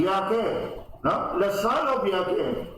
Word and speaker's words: Yahweh: But in Hebrew, the word J is pronounced as Y. Like Yehoshua. Joshua. Yehoshua. So, reading it in a Hebrew tongue, it would sound like Yahweh.